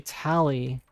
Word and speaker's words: Tali: Yeah, I usually just say, oh, it's actually Tali. And I'll spell it like how you spell Tally, like Tally.